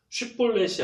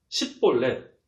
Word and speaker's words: 쉿볼렛: 그런데 에브라임 사람들은 이 쉬를 시라고 발음해서 쉿볼렛이 아니라 십볼렛 그렇게 발음했기 때문에 들통이 금방 나버렸습니다.